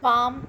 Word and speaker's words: palm: in film is pronounced whereas it is not pronounced at all in the word palm and no matter here l letter is there but in palm also l is silent and then calm two